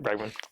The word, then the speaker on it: Bregman: Is it pronounced Bregman? Yep, Bregman.